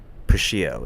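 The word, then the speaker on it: Puschieau: Pio is how you say it. Pio Productions.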